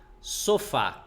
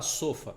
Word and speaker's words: sofá: são obrigados a apresentar sofá conhece sílaba tônica é a última sofá é a mais forte você não fala sofa Ah vou descansar um